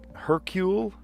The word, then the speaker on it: Hercule: Um, her Herc hercule like Hercules but Hercule Pirate A Gaucho